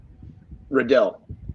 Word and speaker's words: Redell: Redell.